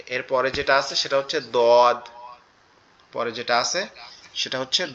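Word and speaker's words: ض: ওকে, এরপরে যেটা আছে সেটা হচ্ছে দদ, পরে যেটা আছে সেটা হচ্ছে দদ। এই দদের উচ্চারণটা একটু কঠিন, দদের উচ্চারণটা একটু কঠিন, কেন কঠিন, কারণ এটা হচ্ছে আমাদের জিহ্বার গোড়া উপরের মাড়ির দাঁতের গোড়ার সঙ্গে লাগবে।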